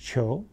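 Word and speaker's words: 求: Contemporary version of this would be on the right, top right, pronounced qiu.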